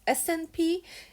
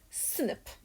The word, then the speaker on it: SNP: a single nucleotide polymorphism it is not pronounced as SNP it is pronounced as snip so I get the